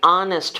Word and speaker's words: honest: project six AR is found before words beginning with with silent h an hour h o r an honest man an honorable person an